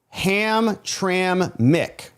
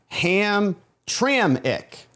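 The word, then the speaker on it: Hamtramck: So, Jane Land, it's pronounced Ham Tram Mick. And another one from Barry, Ham Tram Ick.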